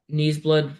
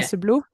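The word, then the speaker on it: Neseblod: Oh, we went to like do you know Knees Blood Records? Is that how you say it? Mm. Yeah. Näseblo. Yeah.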